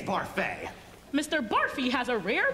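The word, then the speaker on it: Barfée: Mr. Barfy. It's Barfay.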